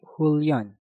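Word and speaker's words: 훈련: Hun diakhiri dengan nien, setelah itu diikuti kata yang diawali dengan real. Maka hun kita rubah menjadi hul. Maka cara pengucapannya menjadi Hulyon.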